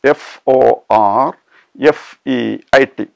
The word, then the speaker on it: forfeit: f o r and the second part of the word f e i t is pronounced as fit not fit okay the